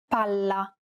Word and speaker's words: palla: Unlike English, double consonants must be pronounced clearly and held for longer periods of time in Italian. Failure to do so could result in miscommunication. Pala, palla.